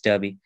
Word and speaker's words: Derby: um in the city called derby it is pronounced as derby but it's derby so because i was in touch with somebody